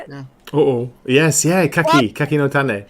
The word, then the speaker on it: Kaki no Tane: What brand of the Kaki no Tane? Is that how you say it? Yeah. Oh, yes, Kaki no Tane. Kaki no Tane.